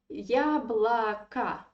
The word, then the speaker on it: яблоко: Моё яблоко, моё яблоко, my apple. Here you see two O close to each other, but we pronounce them like A because they are in unstressed position again.